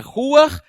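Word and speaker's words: רוח: origem da palavra espírito a primeira lá em cima que é Hebraica se pronuncia ruar e a de baixo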